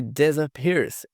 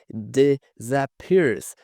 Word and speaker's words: disappears: She disappears. Esse I aqui novamente tem um som de E. Disappears. Esse A aqui tem um som de schwa.